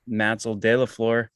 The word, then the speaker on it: Matzeldelaflor: So most people stop at Matz, the first syllable. So it's how it goes. But my name's Matzeldelaflor, and Matz is where it stops.